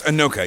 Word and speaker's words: Inoka: And so over here we're at Inoka, and is it pronounced Inoka? Yeah. So it's Inoka, yeah.